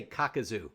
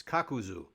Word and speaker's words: Kakuzu: say yeah she said don't say kakazu it's kakuzu otherwise yeah otherwise they're